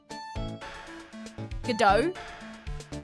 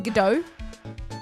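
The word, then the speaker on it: Godot: Gdau. His name is Gdau. The T is silent.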